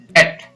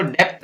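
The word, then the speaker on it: debt: Next है, B का उच्चारण नहीं होने वाले कुछ और शब्द हैं, जैसे डेट, यहाँ पर इसको डेप्थ नहीं पढ़ेंगे, डेट, DE, डे और T, B है वो साइलेंट रहेगा।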